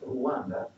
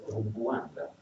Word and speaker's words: Rwanda: So for example, the cluster R plus W is pronounced Rwa. Like there's a G coming into it. So actually the name of the country should not be pronounced Rwanda, but Rwanda.